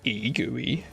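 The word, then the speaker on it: egui: Pronounced GUI is a simple, fast, and highly portable immediate mode GUI library for Rust.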